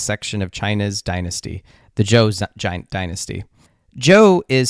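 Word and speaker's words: Zhou: of China's Dynasty the Joe Dynasty Joe is spelled z h u but it's pronounced Joe kind of like Uncle Joe this time period of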